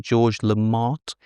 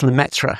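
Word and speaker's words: Lemaître: I never like to pronounce his name, but it's something like George Lamont. It's Lmetra. Lamemetra Lmetra with a bit of a with a bit of flem in there somewhere.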